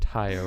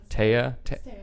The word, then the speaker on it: Taeya: we have Steve and your name is pronounced ty oh right taya told you yeah called